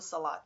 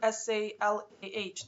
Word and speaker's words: Salat: of meditation, check into Salat. SALAT or SALAH, depends like how they pronounce it. Because Arabic is kind of can be tricky. It can end with a T or an H, you know.